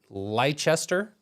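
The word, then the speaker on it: Leicester: is it like that like when l l Lester it's ler one the pre Premier League it's leester you know I thought it was ler whatever leester Lester Lister leer this is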